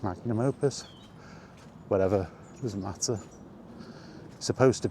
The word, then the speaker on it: magnum opus: to be Todd Howard's magnus opus. That's how you say it, magnum opus.